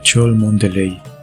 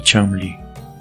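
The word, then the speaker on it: Cholmondeley: su casa de Florida era chol meley pero se pronunciaba chamli pero aún no era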